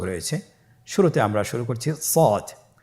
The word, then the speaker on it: ص: শুরুতে আমরা শুরু করছি সদ। সদ হরফটি পুর হরফ, মোটা হরফ, উচ্চারণের ক্ষেত্রে মোটা করে পড়তে হবে এবং উচ্চারণ করার সময় 3 আলিফ টেনে পড়তে হবে।